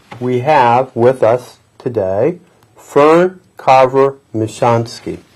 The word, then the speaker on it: Fern Michonski: the author and we have with us today Fern Carver michansky how are you Fern very fine thank you get that pronunciation correct you did excellent yes indeed fern